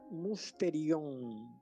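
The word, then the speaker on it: μυστήριον: en el diccionario y en griego se pronuncia musteri y se nos dice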